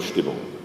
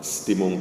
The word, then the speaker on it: Stimmung: So that's why I'm cultivating the German word here, and it's also easy to pronounce. It's just not Stimmung, but Stimmung.